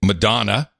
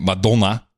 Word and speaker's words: Madonna: in the Netherlands for saying Madonna where everyone was pronouncing it medulla yeah so in the